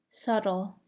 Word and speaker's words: subtle: Do not pronounce the B in the following words: bomb, climb, comb, crumb, debt, doubt, dumb, lamb, limb, numb, plumber, subtle, succumb, thumb, tomb, womb. Do not pronounce the C